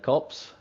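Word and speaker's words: Copse: coming around into cops or corpse. How do you pronounce that corner? Uh, I'd definitely pronounce it cops. Uh, for sure as left session again.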